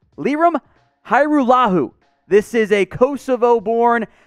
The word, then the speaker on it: Lirim Hajrullahu: now dumb liam and we will do a full breakdown of the pronunciation for you guys too it's lirum hairullahu this is a kosovo